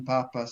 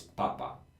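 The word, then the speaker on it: papà: everybody listening we have two words that are very similar in Italian one is Papa and one is Papa and the only difference is a little Accent on the last a papa means that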